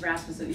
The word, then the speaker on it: Rasmussen: It's Rasmussen. You know how there's like Anderson?